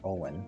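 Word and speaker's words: Eoghan: His name is Owen, that's how it's pronounced, even though it looks like Eogan.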